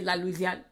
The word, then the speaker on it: La Louisian: __ ] here is la louisian like louisiana um which means louisiana like but they phonetically say la luzian all right then we